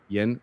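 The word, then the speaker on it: Yuen: this guy this author Mike young I think that's how you say his name Yen y-u-e-n um I read this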